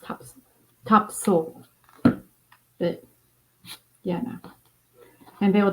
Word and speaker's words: Topsail: is kind of cool to make actually it's pronounced top top soul but yeah and they will definitely let me